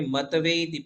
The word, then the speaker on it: मत्वेति: मत्वेति मत्वेति नाथ नाथ तव तव संस्तवनम संस्तवनम मयेद मयेद हाँ, अभी आपने मतवेति पढ़ा ना, मतवेति, तो त हलंत है, त आधा है, तो त को आधा ही पढ़ेंगे।